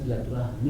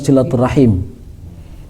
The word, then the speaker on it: silaturahim: mengurangi sahabat-sahabat silaturahmi ya silaturahim dan silaturahmi sama sama tapi yang benar nyebutnya silaturahim yang Ben yang betul nyebutnya ejaannya silaturahim menyambungkan kembali tali-tali rahim